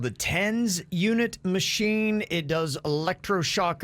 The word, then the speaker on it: TENS: thames oh really okay nice how do you pronounce it tens tens yeah t-e-n-s tens unit that's what the